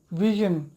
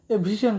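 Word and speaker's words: vision: ওকে, এরপরে হচ্ছে ভিশন মানে দৃষ্টি, ভিশন আমরা বলি ভীষণ, ভীষণ হবে না, এটা ভিশন।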